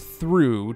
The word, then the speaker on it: through: word through thr ough Oh ugh is pronounced ooh in that case now take out the